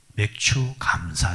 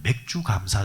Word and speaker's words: 맥추 감사: 감사 자 그 2 어떤 분들은 발음이 안 되면 맥주 갑사 절 이런식으로 바로 많은 분들 많습니다 어떤 교회는 장로님들이 이 발음이 안되서 기도하다가 회전 기도하다가 맥주 감사절을 허락하신 하나님 감사합니다 그런 사람들이 5 쓰면 뭐